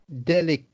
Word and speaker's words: delicately: So it's ut once again. Ut instead of ate. It's the same, delicate. Yes, it's like delicate or delicately, whether it's the adverb or the adjective. Delicate being the adjective, delicately being the adverb, describing the way in which the person did something. They did it delicately, you see. So the rule is, if it's an adjective or a noun, then the sound is ut.